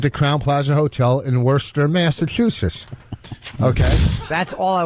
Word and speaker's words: Worcester: Worcester. Yeah. All right. Whatever. They like to call Worcester up there. Oh, Worcester? Worcester. Then take the R out. The R is silent.